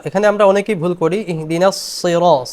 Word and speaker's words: اهدنا الصراط: ইহদিনাস সিরা, সদ উচ্চারণ হবে মূলত, সদ মোটা করতে হবে। ইহদিনাস সিরা, ইহদিনাস সিরা বলা যাবে না।